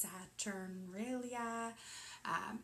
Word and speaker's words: Saturnalia: There's a lot of corresponding themes in Christmas and in Yule and in, I think it's pronounced Saturnalia, and in Hanukkah and in Diwali.